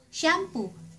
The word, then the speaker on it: siyampu: Shampoo ----- sa Tagalog, siyampu. Siyampu. Siyampu. Siyam (pronounced sham) pu Siyampu.